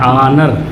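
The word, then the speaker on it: honour: ये क्या है, शुरू तो H से है, लेकिन अगर हम उच्चारण जब इसका करेंगे, प्रोनाउंसिएशन करेंगे, तो ये A से लिखाता है, ऑनर।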